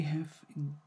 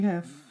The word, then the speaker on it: H: we have the ha we don't say age we say ha and it's ha like in house so the same like in